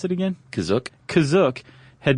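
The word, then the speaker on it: Kashyyyk: or Wiki Planet C is that how you say kazuk that's how it's pronounced in the episode the holiday special but it's also pronounced different ways other times to pronounce that cashier gotta spell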